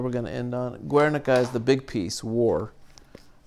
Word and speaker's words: Guernica: Guernica is the big piece, War. Let me make sure I pronunciate that right, because it's actually a town. Yeah, Guernica. I'm pronunciating Guernica.